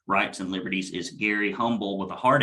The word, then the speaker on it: Humble: Yeah, we learned about that H at that last event we did together, didn't we? It's very difficult when you've been raised your whole life not to pronounce the H in humble and say humble, and then when somebody puts it in front of you, it's very difficult to switch.